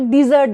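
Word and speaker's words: dessert: जो हम मीठा पकवान, मीठा में बड़ी की मात्रा, मीठा पकवान लगेगा तो उसको डिज़र्ट बोलेंगे, ओके।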